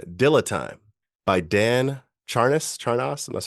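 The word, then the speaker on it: Charnas: luckerson this one Dill Time by Dan Charis charos that's how you pronounce it so for those music lovers out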